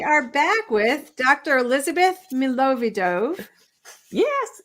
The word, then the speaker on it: Milovidov: and today we are back with dr elizabeth milovidov yes it's great pronunciation i'm impressed you know why i wrote